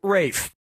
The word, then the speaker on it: Ralph: worked yep ray fein's first name is spelled like ralph but pronounced rafe and his brother joseph